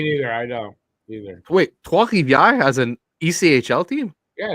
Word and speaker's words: Trois-Rivières: Hey, how do you say Trois-Rivières, Eric? Trois-Rivières. You put the French accent to it.